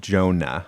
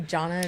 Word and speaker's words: Jonah: It's like Jonah. I always say Jonah's name Yeah, you wrong. always say Jonna instead Yeah, of I don't Jonah.